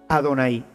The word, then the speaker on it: Adonay: pues ellos tenían llave pero no pronuncian llave ellos cuando ven este programa van a pronunciar a don ahí porque esto es lo que ellos deben de decir con el paso del